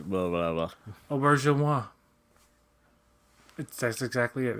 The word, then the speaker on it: Auberjonois: So it was like Renee Arbor Jonas. That's what it was to me. Yeah, I say it like Renee Auberjonois, blah blah blah. Auberjonois.